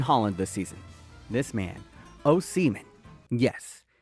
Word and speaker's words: Osimhen: This man, Osimhen. Yes, it is pronounced O-Seaman.